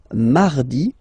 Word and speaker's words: mardi: Then mardi, mardi. So you can hear that you don't pronounce it that strongly, this R. Mardi, mardi, okay? You don't need to go too deep like mardi.